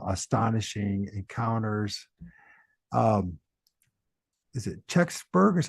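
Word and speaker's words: Kecksburg: you got uh astonishing encounters um is it cburg is how you pronounce it untold story uh yeah kbur yeah that's the video I produced on the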